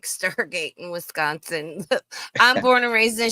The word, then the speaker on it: Wisconsin: you gotta say it you gotta drag out the S Wisconsin and it's Illinois I heard